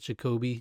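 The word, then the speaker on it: Jacobi: Jacoby Jupe, which this whole season I thought it was Jacoby Jupe, but now I've been hearing Jacoby is the correct pronunciation.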